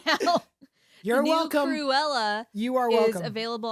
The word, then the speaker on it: Cruella: pronounce that again? Cruella. What did you say the first time? Cruella? Sound like you said Corella.